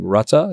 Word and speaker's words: Rutte: But I think he's gone to, and you know how to pronounce his name, Rutte? Is that how you pronounce his name? Rutte.